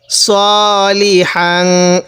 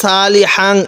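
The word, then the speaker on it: صَالِحًا: আলিফ 2 জবর হাং, সলিহাং। এটা সৎ সিন না, অনেকে এখানে সালিহাং এরকম পড়ব, আমরা এরকমভাবে পড়ব না, সলিহাং এরকম করে পড়ব। ওয়া আমিলা সলিহাং।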